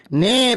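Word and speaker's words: know: না পারি তাহলে আপনি যা করার করবেন স্যার নে বল কি লিখলাম এটা স্যার এটা লেখা আছে কে এন ও ডব্লিউ কোন স্যার এটা কোন লেখা আছে?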